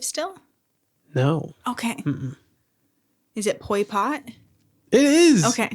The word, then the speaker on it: Pol Pot: Is it Pol Pot?